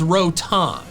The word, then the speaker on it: Rotom: The official pronunciation is rotom. Rotom. I get this pronunciation since its name ends in T-O-M, which is Tom, not T-O-M-E, which is tome, which was what I'm saying.